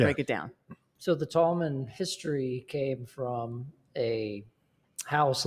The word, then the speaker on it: Tallman: time oh wow so is it pronounced Tallman because we keep saying tall man is it wrong I think tall man is two words okay so we should be saying Tallman Tallman say it faster Tallman tommen yep yep